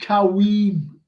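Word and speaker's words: Caoimhín: Pronounced Kawim, says Stephen Snape. Kelleher. Yeah, young Kelleher. Yeah. See how far we've gone down. This one. Quahim. And Brian says Quavine.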